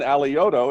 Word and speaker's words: Alioto: Next up is John Alioto. Am I pronouncing that correctly? You got it. Perfect. Exactly right.